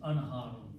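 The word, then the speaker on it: أنهار: And actually it's not Naharun, it's Anharun. The plural is Anharun.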